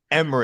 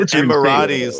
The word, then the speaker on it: Emirates: Emirates. How do you say it? Emirates. Okay, the Emirates Cup. Yeah, he said Emiratis like it's an Egyptian god.